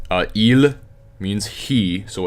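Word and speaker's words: ils: things like that Elin L and that's how it's pronounced you don't say the S on the end okay even L means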